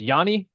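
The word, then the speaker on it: Yoni: Is it pronounced Yanni? Y O N I. Yes. What's up, Yonyi?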